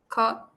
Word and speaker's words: caught: caught, Olvídese de la G.